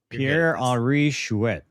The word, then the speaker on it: Pierre-Henri Chouet: So there's a whole lot of words, but Pierre, I can't pronounce his name. Doug, how do you say his name? Pierre-Henri Chouet.